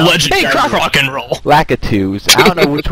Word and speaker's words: Lakitu: I'm gonna get my revenge on the Lakito right now. Yeah, there you go. This isn't a paper route, son. This is real. I'm actually pronouncing his name. It's actually Lakitu.